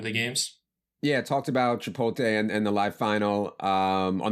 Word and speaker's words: Chipotle: to Chipotle addict because these two Yahoo's keep calling Chipotle I'm assuming that they also pronounce it new killer and 'cimmanon saying it one more time out right now it's Chipotle addict Chipotle okay yeah as in